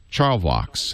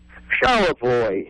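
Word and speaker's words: Charlevoix: bet it's not pronounced Charo I bet it's pronounced charl Vox how is it pronounced charoy charoy all right charoy I've learned that Michigan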